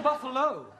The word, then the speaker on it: Buffalo: a big buo oh Buffalo ter confused yeah words that endino like Buffalo or radio or vertigo you pronounce the O but when there is no o you don't add one understand yes I give